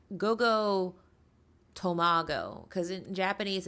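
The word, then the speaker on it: Go Go Tomago: Like, for example, Rochelle of Ravensburger fame pointed out that it's Gogo Tomago, because in Japanese it's Tamago, so people like assume it's Gogo Tamago, and no, it's Gogo Tomago.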